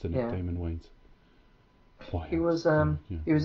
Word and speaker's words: Damon: it was just wayne's i think it's pronounced daymond he was um he